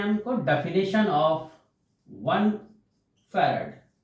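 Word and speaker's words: farad: गया कलाम पर वोल्ट जिसको हम बोलते हैं फैरड एफ ए are eddy कुछ लोग इसको फैरा भी बोलते हैं जो भी प्रोनाउंस को अच्छा लगे फैरड या फिर फैराडाइज्म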